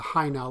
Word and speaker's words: Hajnal: if you look at the high now line it's spelled hajnal if you look at